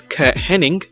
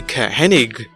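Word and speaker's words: Curt Hennig: of his name with many fans still remembering it as kurt henning when it was actually ka hennig many fans to this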